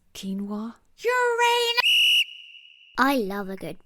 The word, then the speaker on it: quinoa: the crankies will only ever be able to pronounce the word quinoa as quinoa. It's quinoa.